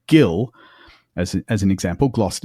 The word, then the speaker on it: gil: So, Gildor, Gilin, Osgillath, they all begin as in the English guild.